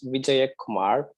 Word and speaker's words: Vijay Kumar: So my name is Vijay Kumar.